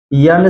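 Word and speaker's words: know: सकते हैं यहां पर न से पहले के आया है इसलिए यहां पर के साइलेंट है सीधा पढ़ा गया है नो इसी तरह नोक इसी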